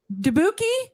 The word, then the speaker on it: Dubuque: Dubuque. Dubuque. That's what. Oh, Dubuque. Dubuque. Okay. Kind of like barbecue.